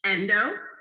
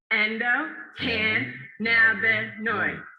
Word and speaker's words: endocannabinoid: Endocannabinoid. Endocannabinoid. Endocan. Louder, Portland. Endocannabinoid. Endocan. Masterful. Yes, thank you. So yes, ladies and gentlemen, this secret system is what's known as the endocannabinoid system, or ECS for short.